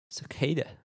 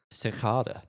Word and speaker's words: Cicada: Is Cicada. Or, if you want to say it wrong, Cicada.